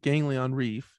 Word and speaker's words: Ganglion: with the first album, I always think it's ganglion, but it's not. Oh, it is. Yeah. Okay. I always feel like I say it wrong. Okay. Ganglion Reef, and the most recent one with Spiders in the Rain, right?